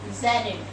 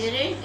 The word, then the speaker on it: gerund: am taking, that is gerund. Children, don't pronounce it as a gerund, it is gerund.